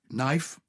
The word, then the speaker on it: knife: knife, Knife. knight, night, not, cannot, and no. Okay, we used to pronounce the Ks, and I You're wish that we joking.